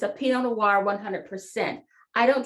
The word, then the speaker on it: pinot noir: who pronounces it the way it should be pronounced pinot noir that's the correct pronunciation but this one is